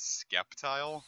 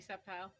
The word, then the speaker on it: Sceptile: I knew too many people who pronounce Sceptile as Skeptile, and I really don't like that. No, it's definitely Sceptile.